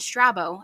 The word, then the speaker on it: Strabo: philosophers and researchers who according to our friend strabo I looked it up that's how you say